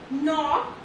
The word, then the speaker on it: knock: Okay, so in letter K, when it is silent when it is used before N. Okay, so here we have some examples: knee, knife, night, knock, no, and knowledge, and